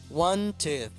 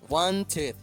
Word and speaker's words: wanted: Entonces la ed se pronuncia como ed. Wanted. Wanted.